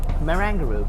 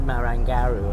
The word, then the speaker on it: Marangaroo: pronunciation as Marangaroo in Sydney, so I just pronounce it as correctly. Marangaroo. Before I said Marangaroo or something like that.